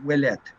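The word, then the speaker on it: Ouellette: a little closer but the thing is so in wellet it should be it should be the OU should be treated like a W pisher Street okay so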